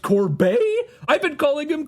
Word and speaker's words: Corbet: posted just a still up Homer saying it's pronounced Corbet I've been calling him corbette oh I've been making an idiot of myself